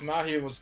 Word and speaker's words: Mahiro: The way you pronounce my hero's name, it it sounds like my hero.